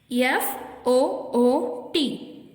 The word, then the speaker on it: foot: இந்த வார்த்தையில ஷார்ட் ஊ சவுண்ட் இருக்கு. FOOT, foot.